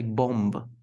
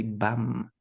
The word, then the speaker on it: bomb: You never say bomb, bomb. No, we say bum.